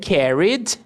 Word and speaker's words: carried: And carried. Esse ED aqui vai ter som de D.